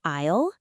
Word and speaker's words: aisle: Did you hear how they hesitated with isle? That word is tricky. Definitely. It looks like a i l, but we don't pronounce the s.